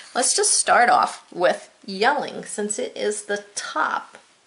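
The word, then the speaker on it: Jelling: Yelling, this is pronounced yelling, even though it's a J. We don't say gelling, we say yelling.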